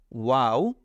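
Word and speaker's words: واو: বা বেগ পেতে হয় না তাহলে আমরা শিখলাম ওয়াও এরপরে শিখলাম হা ওয়াও হা ওয়াও হা আমরা এটা বারবার উচ্চারণ করব প্র্যাকটিস করব তাহলে আমাদের এগুলো আরো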